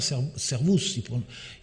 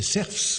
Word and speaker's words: servus: Mais il faut bien voir qu'à haute voix, il ne prononçait certainement pas servus, selon la région, il prononçait serfs ou quelque chose comme ça, ou servos.